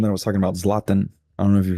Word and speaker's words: Zlatan: But I do think No, that other guy is uh the one that I was talking about, Zlatan.